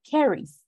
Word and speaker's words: carries: And this one is carries. Carries. Mm-hmm. You don't have to pronounce the E, just carries.